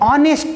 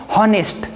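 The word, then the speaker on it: honest: हम ऐसा नहीं बोलते हैं हॉनेस्ट। लेकिन अगर मुझे बोलना है ही इज एन ऑनेस्ट बॉय, तो ऐसा मैं बोल सकता हूँ, क्योंकि इसका जो प्रोनाउंसिएशन है हम ओ से शुरू करते हैं और यहाँ पे हम एच का प्रोनाउंसिएशन नहीं करते हैं।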